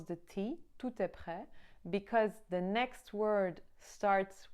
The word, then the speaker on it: tout: guess so that's how when it's a vowel starting the next word we do pronounce the T and then to other